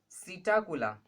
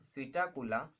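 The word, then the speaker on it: Psittacula: Okay, उसके बाद सीटाकुला, सीटा स्पेलिंग में पी है बट पी is silent, सीटाकुला, सीटाकुला is parrot.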